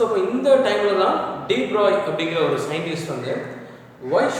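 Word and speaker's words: de Broglie: So இதை நம்ம எப்படி ப்ரொனவுன்ஸ் பண்ணுறோம் அப்படின்னா டி ப்ராக்லி wavelength, டி ப்ராக்லி. ஸோ இது வந்து ஒரு ஃப்ரெஞ்சோடைய சயின்டிஸ்டோட நேம்னால இந்த எல்ஐஇ அப்படிங்கிறத நம்ம ஷார்ட்டாக ஒய் டி ப்ராய் வேவ்லென்த்லாம் நம்ம ப்ரொனவுன்ஸ் பண்ணணும்.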